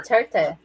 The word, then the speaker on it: Duterte: Doherty, is that how you pronounce it? President Doherty. He's a lawyer. Duterte.